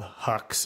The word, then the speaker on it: Huxe: And I believe it's called Huxe or pronounced Huxe. It's H-U-X-E.